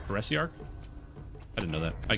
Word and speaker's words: Heresiarch: Did you know that's how it's pronounced? Heresiarch?